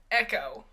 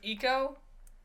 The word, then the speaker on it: eco: One was, the narrator was Oprah Winfrey, and she, like, you know, she kept saying it echo instead of eco, and she said it, for like, nature and stuff, and it was just weird.